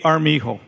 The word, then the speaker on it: Armijo: write it down a armijo so it's two a's a a r m i j o the j spell pronounced like an h a r amigo at